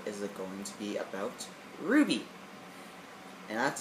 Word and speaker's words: RWBY: you need to go check out Ruby it's on Netflix it's spelled same way as Ruby except with a uh instead of a u it's a w and um Rooster Teeth